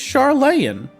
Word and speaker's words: Charlane: Uh, is there no A? No, there's an A. It's Charlean.